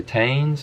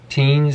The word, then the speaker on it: Tein: bit better cool overs like the tanes or teens if you want to pronounce it that way as well i do love these